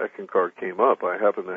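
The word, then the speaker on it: Eckankar: I had heard about him, but I had never studied, how do you pronounce it, Ekankar? Ekankar.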